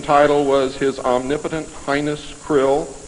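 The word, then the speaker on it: Krll: his name and title was his omnipotent highness Krill pronounced Krill spelled KR l l l or c r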